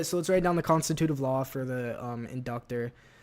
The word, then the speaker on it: constitutive: constit constitutive laws. Inductor constitutive. Let's see what this word is. What? Constituive. Constitutive. Constitutive. Yeah, that's that'd be how you say it.